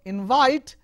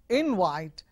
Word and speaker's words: invite: You say invite as a verb, invite. If it is a noun, invite. So invite, calling someone to the party, or if the stress with the first syllable, it becomes a noun, and you say I got invite, that is invitation.